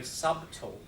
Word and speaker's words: subtle: subtle don't you so there's a logical explanation for the silent letter so again just do we pronounce the no that's what I'm saying it's silent subtle we don't say subtle subtle but that is why the B is there it died for